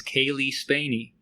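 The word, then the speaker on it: Cailee Spaeny: According to a YouTube channel called Celebrities Saying Their Own Names, I have been correctly pronouncing the lead actress's name as Kaylee Spaney.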